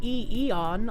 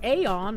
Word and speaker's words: eon: The pronunciation both spellings British English ion eon like b plus on American English eon. The a is a bit broader like in father. What you sometimes hear folks especially with the name or brand say aon or aon but that's not the standard dictionary pronunciation for the actual word. The ae diagraph in Greek Latin derived words like this is traditionally said as e.